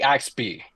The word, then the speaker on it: AXPI: Just pronounce it like Axby.